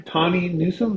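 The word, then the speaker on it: Tawny Newsome: And it's all the and there's all these layers things like first of all it's uh sorry Tonnie Newsome. That's how you pronounce her name.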